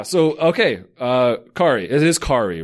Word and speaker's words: Kari: Kari, it is Kari, right?